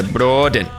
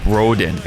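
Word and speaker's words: Brodén: I remember because when I first learned it, I had to learn how to say the Broden and like tap the R. Because it's not Broden, it's Broden. Joachim Broden, that guy.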